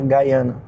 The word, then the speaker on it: Guyana: Guyana, a pronúncia certa.